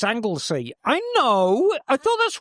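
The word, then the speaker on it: Anglesey: Emma, for sake, it's Anglesy.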